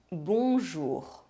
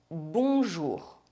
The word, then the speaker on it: bonjour: vowels followed by N or M and a pronounced consonant, other than N or M. Bonjour. The vowel sound is nasalized and we do not pronounce the N or M. Le pain. Comment. Bonjour.